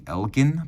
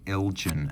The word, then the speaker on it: Elgin: lot of people ask how's it pronounced is it Elgen or Elgen well if we were still in Scotland it would be Elgen but the folks from Illinois I've spoken to say it is is pronounced Elgen and that is the